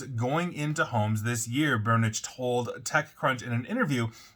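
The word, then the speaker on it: Børnich: Now, that's according to their CEO, Bernd Burnich, and I believe I'm pronouncing that correctly because I did look up what an O with a line through it sounds like in Norwegian.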